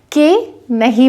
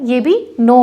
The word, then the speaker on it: know: जब भी के जो है वो एन से पहले लिखा गया है या के के बाद यदि एन आया है, उस केस में हम के नहीं बोलेंगे।